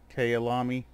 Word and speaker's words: Kyalami: So excuse my pronunciation of it. It's Kyalami.